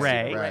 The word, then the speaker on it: Rea: Stephen Rea, is that how we pronounce his last name? Ray.